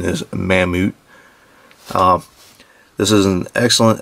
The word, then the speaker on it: Mammoet: mamut version um it's kind of hard to pronounce some people call it mamamo but as far as I know the actual pronunciation is mamut um this is an excellent excellent excellent model